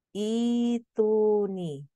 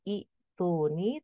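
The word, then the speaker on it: ائتوني: diwaakafkan pada lafaz assamawat maka dibaca ituni Bukan iuni tapi ituni ketika kita wakaf di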